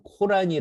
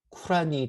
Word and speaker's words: 쿠란: 그다음에 그걸 옮긴게 지금 코란이 아고 하고 이슬람을 그 쿠란이라고도 합니다 그 발음은 쿠라이 더 맞아요 코란 보다는 쿠란이라고 하는데 쿠란을 옮긴 건데 그니까 그